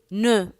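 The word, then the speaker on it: nœud: E-U are pronounced as E. Ne. N-O-E-U-D. Ne.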